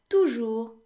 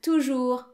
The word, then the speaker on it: toujours: And toujours means always. So the S is silent in toujours as well.